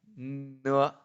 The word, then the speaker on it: 呢: Just like in no. It do not have any function with this letter. Okay, in Chinese, there's no such kind of things. It's just pronounced as ne. It do not have any other sound.